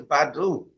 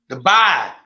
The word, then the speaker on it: Dubai: Probably to Badu. To Badu. How you say it? But Dubai.